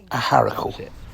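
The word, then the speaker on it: Acharacle: little bit north to a little place called Aaracle. The proper pronunciation is Aaracle.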